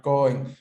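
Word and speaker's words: 公園: Hai, koen. Con la O larga, ¿eh? Atención, con la O larga. Entonces, koen.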